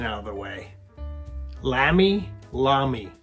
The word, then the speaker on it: Lamy: out of the way lamy lamy it's lami i believe i'm probably going to say lambie and lammy and maybe some other versions too so